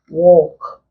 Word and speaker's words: walk: Once L comes after short vowel sounds, especially short O, and then most long sounds, the L is not pronounced. Other examples we have walk.